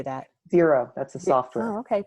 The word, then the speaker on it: Xero: Xero, that's a software.